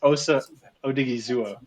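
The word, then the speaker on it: Osa Odighizuwa: This is Osa Odigizua. Although I'm not sure if that's the right pronation. No, you nailed the pronunciation.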